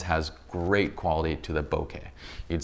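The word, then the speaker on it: bokeh: the correct pronunciation of bouquet is bow like bow and arrow and care like kettle right there's a Japanese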